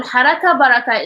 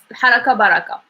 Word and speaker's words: haraka baraka: And try not to pronounce it differently, because we have like baraka, which means enough, baraka. This one is a little bit fast, haraka baraka.